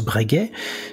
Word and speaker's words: Breguet: bregis ça s'écrit breget d'ailleurs mais ça se prononce bregay c'est une famille qui s'est fait un nom